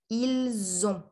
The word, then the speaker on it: ils ont: So il, we don't pronounce the S when it's on its own or before another word, but before on, which starts with a vowel, we'll say ils ont, okay?